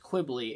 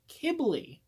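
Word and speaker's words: Qibli: kibbly I've been corrected it is not pronounced Quigley it is pronounced kibbly thank you for whoever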